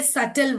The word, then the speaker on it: subtle: कब साइलेंट होता है, लेटर बी साइलेंट होता है when it comes before T और इफ it comes after M. अगर वो लेटर टी से पहले आएगा, ठीक है, जैसे यहाँ पे देखिए सटल word, SUBTLE, we read this as सटल, okay.